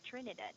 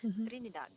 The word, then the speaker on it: Trinidad: usually print oh sorry we usually pronounce that with a soft r sound so trinidad like that but i believe that